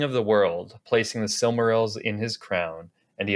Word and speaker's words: Silmaril: pronouncing somewhere else wrong I think it's I read like on on the art of Encyclopedia it's Selma real are you kidding me